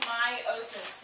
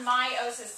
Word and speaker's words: meiosis: differently than it looks it's spelled m-e-i-o-s-i-s but it's pronounced my meiosis is what my